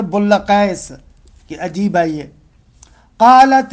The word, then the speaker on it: بلقیس: دیکھیں جو جناب بلقیس، حالانکہ مشہور ہمارے ہاں بلقیس ہے، ہم اسی لیے بلقیس کہہ رہے ہیں، لیکن اصل میں تلفظ ہے بلقیس، کہ عجیب ہے یہ.